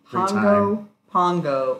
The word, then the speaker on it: Pago Pago: really good time and Pongo Pongo rhymes with Bongo Bongo people are super friendly